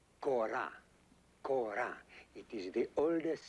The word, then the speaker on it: kora: Ko, not go. Ko. Ko. I show you. You see, the body is a gourd covered with goat skin, 21 strings. This is called kora.